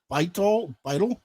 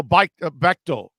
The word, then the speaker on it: Bechtel: And so was 90 was Larry Beitel? Oh, Bechtel. Larry Bechtel. Okay. Bechtel is how it's pronounced.